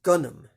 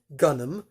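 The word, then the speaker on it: Gunnm: manga the manga in japan was known as gunnam that is spelled g-u-n-n-m in gunnam alita is called gali gunam translates i guess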